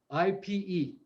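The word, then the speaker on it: ipê: are you spelling that ipe with an accent on the e ipe yeah ipe ipe it's beautiful woods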